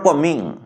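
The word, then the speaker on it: combing: से मुंड कुंडौछंती, सी इज कमिंग her hair, C इज कमिंग her hair, COMB, नॉट कमिंग बट कमिंग। Beach silent, okay beach silent, C इज कमिंग her hair.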